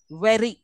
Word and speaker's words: very: mean very now here I'm also pronouncing the r sound R sound but am I am I kind kind of hitting it again and again just once and for all flap tapping it very pronounce very the word